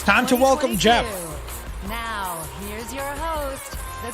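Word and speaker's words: Geoff: spell his name guys it's not Jeff like that Mr Miyazaki his name is spelled g b o f f like kind of like Joff I guess but it's Jeff yeah yeah that's a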